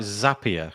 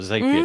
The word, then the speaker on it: Zapier: we use things like zapier or xavier depending on how you pronounce it that's it you've got